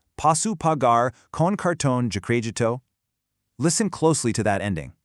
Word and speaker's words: crédito: Let's carefully walk through the phonetics on this one, because credit card has a really specific pronunciation in Portuguese. It's posso pagar com cartão de crédito.